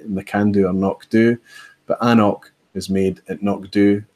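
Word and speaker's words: anCnoc: and told me that the right way to pronounce it was Ancroc. Now that might be absolutely true, but Anok tell you on the bottle that it's Anok, and it's their brand,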